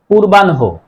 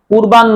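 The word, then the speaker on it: পূর্বাহ্ণ: পূর্বান্য না পূর্বানহ এই শব্দটির শুদ্ধ উচ্চারণ হবে পূর্বানহ পূর্বান্য নয় আর উচ্চারণ লেখার সময় যদি দীর্ঘকর থাকে সেটি রস্যকার হয়।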